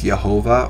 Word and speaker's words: Jehovah: is pronounced as yahweh or yahawah yhvh is pronounced as jehovah or jehovah depending on the person speaking or